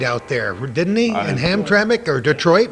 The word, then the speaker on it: Hamtramck: Yeah, Hamtramck.